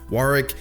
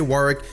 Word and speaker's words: Warwick: reintroduce the series with one of my Maine's Warwick and yes that is how you pronounce it both in the American and British dictionaries it is originally a British City so I will say Warwick if you want to sound like a candle